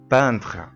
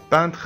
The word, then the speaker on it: peintre: peintre الإي إن تنطق un. peintre impressionniste.